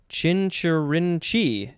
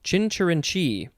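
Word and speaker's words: chincherinchee: i think it's pronounced chinchirin chi chinchurinchi you gotta emphasize the last syllable mostly chinchirin chi c-h-i-n i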